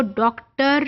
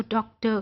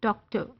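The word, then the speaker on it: doctor: सी टी ओ R British English में आर इज not pronounced उसको व डॉक्टर नहीं कहते व उसको डॉक्टर कहते हैं डॉक्टर अब वो जो एंड पे अ की साउंड मामूली से आई है ना दैट इज शर साउंड अब इसमें ये आर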